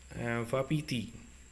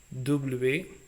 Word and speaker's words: wapiti: Even though it is W, the sound is wa, as you say for V in French, way. Wapiti, that is the splitting of the word. Let's spell it first. W-A-P-I-T-I. So whenever the word ends with a vowel, so you have to stress the letter before it.